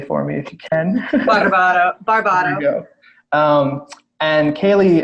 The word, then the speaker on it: Barbato: Kailee, you can pronounce that correctly for me if you can. Barbato.